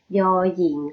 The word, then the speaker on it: ญ หญิง: คะ เป็น พยัญชนะ ตัว ยอ หญิง ค่ะ ยอ หญิง นะ คะ ไม่ ใช่ ยอม ผู้ หญิง นะ คะ อ่า ดิ